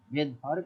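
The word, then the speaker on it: Svedberg: পেয়ে যাব এস মানে আপাতত এটুক জেনে দেখো ভেদ ভার্ব একক এস মানে হলো ভেদভার একক তাইলে মানে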